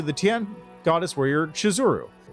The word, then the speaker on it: Shizuru: them warn me that the name of the goddess is actually spelled and pronounced shizuru or that misspelling it